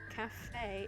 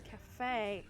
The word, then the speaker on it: cafe: So when you read cafe, it's cafe, not just caf.